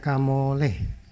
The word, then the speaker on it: Kamolee: Ya, 6H Kamole. Nggak tahu baca Li atau Le. Kebanyakan di YouTube tuh bilang Le. Ya, jadi bacanya Kamole, bukan Li.